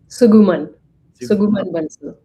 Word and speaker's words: Suguman Bansal: Help me with the pronunciation so I don't screw it up. Suguman Bansal.